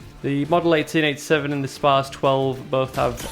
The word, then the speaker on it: SPAS: We've got 3 pump actions altogether, the KSG-12, the SPAS-12, or SPAS-12 if you want to pronounce it right, but being a Yorkshireman I can't help but pronounce it SPAS.